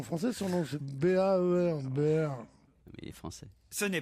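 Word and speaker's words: Baer: Mais non, ça s'écrit pas en français, son nom c'est B-A-E-R. Baird.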